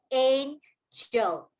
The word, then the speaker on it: angel: Izumi and Buhumi, yes, this is a picture of an angel. So if I say angel, what is the G? Is it a hard G or a soft G sound?